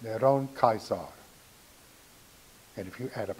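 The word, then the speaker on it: נרון קסר: And the name in Hebrew for Nero Caesar is pronounced Neron Caesar.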